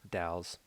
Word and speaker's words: Dalles: from the columbia near what i think is pronounced dailies or dalys oregon dals e-a-l-l-e-s dalles als k perfect 11 and a half